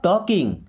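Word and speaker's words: talk: stop टॉकिंग stop stop मी्स होता है बंद करो स्टॉप बंद करो टॉकिंग यहां पे L silent okay टॉक टॉकिंग टॉकिंग मी्स होता है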